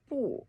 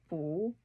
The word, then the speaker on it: 不: It is pronounced 不 before words in first, second, and third tones, but 不 before the fourth tone.